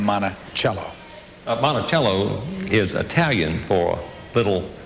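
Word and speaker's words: Monticello: that we get uh jeffson received all kind of letters in which people tried to spell out phonetically monachello so we know from Jefferson and from the letters that that's the way it was pronounced also it's Andrew Burstein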